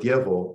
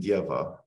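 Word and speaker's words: Дево: the word Dievo, and here I'm emphasizing that the ending is O rather than A, even though in modern Russian, because of vowel reduction, they are pronounced the same.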